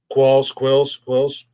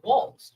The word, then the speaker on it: Qualls: It's like, I mean, Quills. It's Qualls. Oh no, your grammar teacher's in here yelling at us.